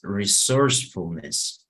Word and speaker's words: resourcefulness: Something that helps you with these difficult words is to check where is the stress, donde está como la sílaba tónica, right? The stress of the word. For example, flexibility. So it's here, right? Flexibility. Patience. Integrity. We say perseverance. It's here. Perseverance. Pride. Resourcefulness. Aquí estaría la sílaba tónica. Resourcefulness. Aquí en source.